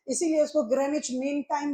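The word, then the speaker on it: Greenwich: जीएमटी जीएमटी का मतलब अब भले लोग उच्चारण करता है ग्रीनविच लेकिन ग्रीनविच उच्चारण नहीं होता। सही उच्चारण होता है इसका ग्रेनेच।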